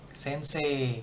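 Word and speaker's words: 先生: Sensei, sensei gitu ya. Jadi E-nya yang panjangin, I-nya tuh kayak nggak dibaca. Sensei gitu.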